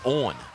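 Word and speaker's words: Eoghan: for a strike mcgarry his first name is spelled e-o-g-h-a-n and pronounced owen lofts this one into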